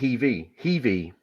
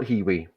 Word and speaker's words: Heewee: Heewee pronounced Heevee. So not Heewee.